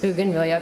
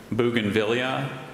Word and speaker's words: bougainvillea: vines with brilliant red or purple floral brackets Bougainvillea can have all the information please Bougainvillea Bougainvillea bougainvillea bougainvillea is a noun formed in